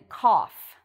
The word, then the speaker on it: cough: talk about today and that is off like in cough so cough again there's this f sound but we don't see it in the spelling when we cough we go that's a cough so again you have o-u-g-h but the pronunciation is like off cough so just to